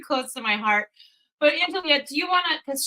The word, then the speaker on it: Angelea: bring in Tim and Angelea. I said it right. It's Angelea. Yes.